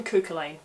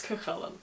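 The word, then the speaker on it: Cú Chulainn: get it wrong, and if you've been calling him Cuchulainn all this time, you're not alone, but it's Cuchulainn.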